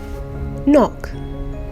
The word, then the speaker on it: knock: year two this week the spelling rule is the MM sound spelt with KN and GN at the beginning of words knock knock on the door